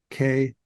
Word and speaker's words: Kalen: And my name is spelled KALEN. Looks like Kalen, KALEN.